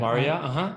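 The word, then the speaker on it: Maurya: Moria.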